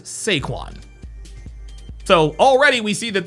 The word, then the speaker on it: Saquon: His name is not Saquan. His name is Seaquan.